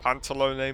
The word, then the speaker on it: Pantalone: I guess it's a bit like with Sandrone, it's like an A sound at the end.